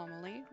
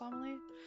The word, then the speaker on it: Amelie: not coming after all Amal I think it's pronounced amaly there's no need to